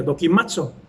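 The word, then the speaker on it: δοκιμάζω: Lo tengo aquí anotado para que no se me olvide cómo se pronuncia, dokimazo.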